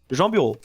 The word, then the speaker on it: Jean Bureau: I think you say it like Jean Bureau, right? I think you said something like that. Well, in French, it's just Jean Bureau.